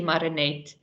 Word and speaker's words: Marenet: again yeah thank you that's actually marinate okay it sounds strange if you say it like that let me also just